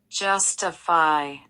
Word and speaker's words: justify: 첫 번째 음절에 강세가 있어요.